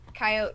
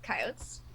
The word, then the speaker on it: coyote: But I have like a coyote vertebrae. And the reason I love coyotes And I know that I know I'm saying it wrong.